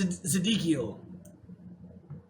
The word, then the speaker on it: Zedekiel: It's like Zedekiel. Ezekiel, but rearranged a little bit.